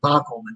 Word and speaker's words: Bockelman: Some of the family has two N's, some use different pronunciations, but we have a silent E in the beginning. It's Bockelman. So it's 10 letters, difficult to spell and difficult to pronounce, and you see it right.